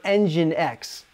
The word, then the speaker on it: nginx: pearl or python and take note that the e stands for engine x which is spelled like this notice that the difference